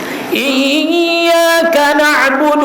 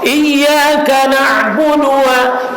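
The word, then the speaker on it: إِيَّاكَ نَعْبُدُ: Awali dengan "iyaka na'budu", bukan itu, tidak, ucapkan "iyaka na'budu", baca lagi. Ya, iyaka na'budu. Perpanjang "na", "iyaka na'budu", ada shaddahnya, jangan ucapkan "iyaka na'budu wa budua", "iyaka na'budu", "iyaka na", ulangi kafnya.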